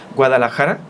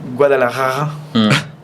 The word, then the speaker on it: Guadalajara: De repente dicen Guadalajara, la J y luego seguido de la R.